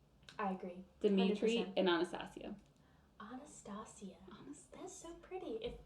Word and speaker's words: Anastasia: first met anastasia or the correct verbiage anastasia oh i like that better it is that's how it's actually pronounced anastasia that is so pretty not anastasia yeah but yeah no